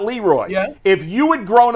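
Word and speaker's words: Le Roy: It's spelled Leroy, but it's pronounced Leroy, not Leroy.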